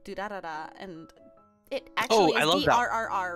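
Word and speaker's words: Durarara!!: There's this lovely anime called Durarara, and it actually is D-R-R-R, right? It's just, it's supposed to be pronounced duh, and then rolling your R's.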